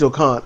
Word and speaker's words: Khan: Yeah, Great Khan. It's the whole, you got to say it like a Tribe Called Quest.